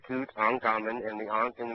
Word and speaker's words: Tutankhamun: So, King Tut, Tutankhamun, is 3 syllables, Tutankhamun, and the Ankh in the middle, meaning everlasting life.